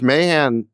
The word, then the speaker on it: Mahan: Well, look, if Mahan, is that the right way to pronounce his name? Yeah, Matt Mahan.